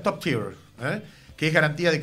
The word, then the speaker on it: top tier: que tiene certificación internacional top tier, que se pronuncia top tier, eh, que es garantía de calidad a nivel mundial.